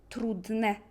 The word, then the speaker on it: trudne: C'est E, miłe, trudne, ładne. Un peu comme E grave en français.